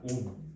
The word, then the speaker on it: 옴: 옴. 응. 온 그거 말밝은 모양처럼 이렇게 이게 그 뭐지? 오메가. 쓸 때 얘를 이렇게 쓰고 이거 읽을 때 뭐라고 읽는다? 옴이라고 읽는 거야.